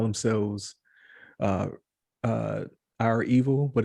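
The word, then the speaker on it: REvil: So it's R, capital E, V, I, L. So rival, Yeah. but it looks like Resident Evil.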